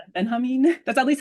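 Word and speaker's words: Benjamin: And I and thank you for this uh Walter uh how did you pronounce it again? Benhamin.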